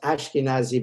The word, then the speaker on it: Eskenazi: Sometimes it's Eskenazi with an E, but pronounced Ashkenazi by others.